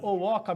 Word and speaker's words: Owhoka: Você faz a pergunta e eu acho divertido porque as pessoas geralmente se confundem e elas americanizam, né? Então o H vira R, o H vira X.